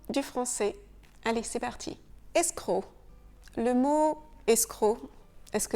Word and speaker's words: escroc: Le C est silencieux, un escroc. Ce mot viendrait d'un mot italien que je ne vais pas essayer de prononcer. On a donc gardé le C du mot italien, mais on ne le prononce pas. Et le verbe de la même famille, c'est escroquer. Donc, on reprend ici le son que, escroquer.